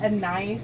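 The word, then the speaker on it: anise: think it is it's it's pronounced a nice but it is a n i um a n i e and I think that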